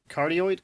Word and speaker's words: cardioid: Yeah, it's a cardioid.